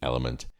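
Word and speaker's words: LMNT: called element um now it's actually spelled with four letters L MNT element I'm an exercise nut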